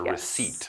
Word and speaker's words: receipt: It's It's weird to think about cuz we always say receipt, but yes, the P is silent. It's a receipt, okay?